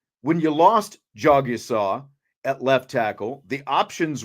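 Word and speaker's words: Jagusah: Uh, one, there is no debate because I've got this roster that Notre Dame gave us with a pronunciation guide on there and it says right here, Jogsaw.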